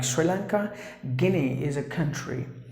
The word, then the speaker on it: Guinea: gullible gullible that's the way you have to pronounce the word and the next word is Guinea like this key name meaning letter to you